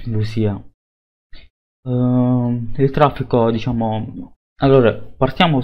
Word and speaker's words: Lucia: c'è Poi vedremo Lucia Lucia che in realtà sarà un nome italiano sicuramente perché solo che gli americani lo pronunciano Lucia il traffico diciamo Allora